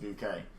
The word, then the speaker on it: Bucket: But I have to say my goodbyes like a good bucket pronounced bouquet.